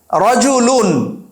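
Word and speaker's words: رَجُلٌ: আরেকটা হচ্ছে তানভীন রজুলুন আমরা রজুলুন বলছি লিখলাম হচ্ছে রজুল র জিম লাম তিনটা অক্ষর দিয়ে আমরা লিখছি কিন্তু লামের মধ্যে দুই পেশমাতান দেয়ার কারণে আমরা উচ্চারণ করলাম রজুলুন তখন প্রথম দিকের শিক্ষার্থীরা বলবে এখানে তো নুন নাই আপনি নুন কোথায় পেলেন রজুলুন তখন তাদেরকে বলতে হয় যে এখানেতান দুইটা পেশ থাকলে পরে আমাদের নুন সাউন্ডটা আসবে দুইটা জবর থাকলে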